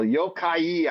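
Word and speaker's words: 妖怪: Yokai, I believe is how you say it's Yokai. And would that be pronounced Yokai or what Yokai?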